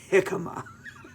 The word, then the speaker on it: jicama: wife sends you these these jicama sticks they're pronounced jicama be blessed today god bless you guys bye